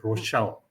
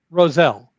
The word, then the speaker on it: Roselle: Please correct me if I'm pronouncing the name correct. Roselle or was it Rochelle? Roselle.